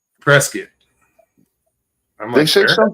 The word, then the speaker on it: Prescott: it's pronounced Preskitt. Preskitt. Preskitt.